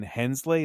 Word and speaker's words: Hensleigh: it, Michael Bay was really mad about Jonathan Hensleigh.